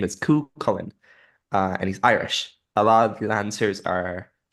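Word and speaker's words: Cú Chulainn: So hearing them pronounce Hugh Holland, um, I was sitting here like, no, that's not how you say it.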